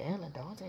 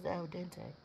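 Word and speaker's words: al dente: and I was like al dante that's how you pronounce it I thought it was alente and they started laughing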